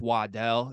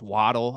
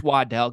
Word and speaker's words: Waddell: to see me because it's pronounced Waddell it's not pronounced waddle I had to live with that for quite a few years in my life okay it's Waddell get the name right